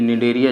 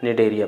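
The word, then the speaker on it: Cnidaria: याद रखिएगा दोस्तों, ये निडेरिया जो होता है ना, इसकी मीनिंग सी से शुरू होती है, लेकिन सी इसका साइलेंट रहता है। हम पढ़ते क्या हैं? इसे निडेरिया पढ़ते हैं।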